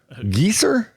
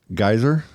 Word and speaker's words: geyser: The teachers did not know how to pronounce geyser. So they would go Scott geyser. Gieser. And they would say it like trying to be German or whatever. Yeah. And it was geyser.